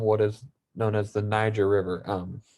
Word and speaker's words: Niger: The kingdom of Ghana started along what is known as the Niger River. It is not pronounced how it looks. It is pronounced Niger.